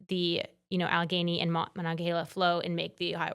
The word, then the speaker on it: Monongahela: It has the Monongahela. Thank you for pronouncing correcting the pronunciation.